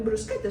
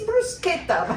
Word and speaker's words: bruschetta: I didn't do Italian food often, but that one day I was doing bruschetta.